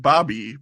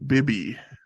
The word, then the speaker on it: Bibby: Okay, not Mike Bobby, but Mike Bibby.